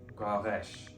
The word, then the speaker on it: Guaresh: The r is surrounded by broad vowels, but the S is connected to a slender vowel, so it's not pronounced S, it's pronounced Sh. Guaresh.